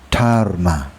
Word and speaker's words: Dharma: In some places, it's written in Sanskrit as Dharma, pronounced Dharma, and Westerners have largely understood its meaning without needing a translation.